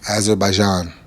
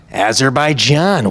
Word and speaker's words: Azerbaijan: Can you pronounce the country that you're going to be fighting in? Azeraijan. Azerbaijan.